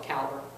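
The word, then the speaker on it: Calibre: a free software called I call it calibra but everybody else calls it caliber I like my pronunciation calbra you like I like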